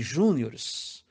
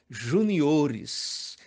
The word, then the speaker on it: juniores: você pronuncia campeonato de Juniores sinto informar que o certo é Juniores Até porque não existe palavra acentuada antes da antepenúltima sílaba no segundo caso a